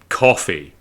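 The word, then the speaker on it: Ko-fi: you're talking about cuz I know it's supposed to be coffee like you're buying somebody a coffee and they've kind of styled it like Hi-Fi or Wi-Fi but I'm so used to saying Hi-Fi and Wi-Fi but when I see fi like that you know it it it it it turns into that so it's not coffee it's it's Kofi and they go it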